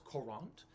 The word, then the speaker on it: Courant: a current is sure a current is not like the current of water and it's not like the berries it's spelled very differently it's korant and that is a